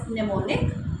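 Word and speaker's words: mnemonic: stands for m is silent here so we pronounce it as pneumonic device okay now moving ahead let me tell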